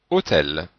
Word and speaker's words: hôtel: La lettre E devant une consonne prononcée se prononce aussi est. Par exemple, hôtel. Donc on voit que le L est prononcé. Du coup, le E se prononce automatiquement est, sans qu'on ait besoin de mettre un accent grave.